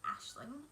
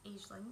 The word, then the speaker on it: Aisling: So as many of you know, my name is Aisling, which is an Irish name, so usually it's pronounced Ashling. I have grown up knowing it as Aisling, and therefore I will